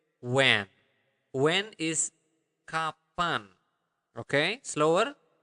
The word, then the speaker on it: kapan: will learn how to say when when is kapan okay slower kapan kapan okay kapan where is the Mana d